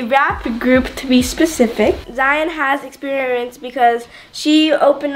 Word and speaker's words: Zion: And today, we have a special guest, Zion. Wait. And we're, make sure I pronounce it right. Zion. You got it right. Zion.